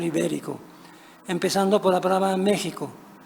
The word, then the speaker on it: México: por la palabra México, cuya consonante fricativa palatal soda, sh, se glotalizó en el español de España mediante la J, jo. La suavidad palatal de la consonante náhuatl, pronunciada sh, se volvió ásperamente gutural en el español de España, glotalización que se repercutió en el español mexicano, aunque de manera más suave.